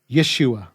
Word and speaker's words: Yeshua: understanding of language then the only pronunciation of the savior's name is Yeshua written in English either with a y e or y apostrophe these two being pretty close